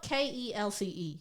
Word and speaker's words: Kelce: Because it's spelled Kelce. Plenty of Americans. Like, you'd pronounce that as Kelsey, right?